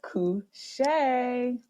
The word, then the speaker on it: Kushae: kimba the natural diva and it is called kushay so that's how you pronounce it now hopefully it's reminiscent of something